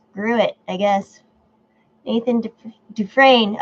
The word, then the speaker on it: Dufresne: Nathan Dufresne. Okay, is how it's pronounced French.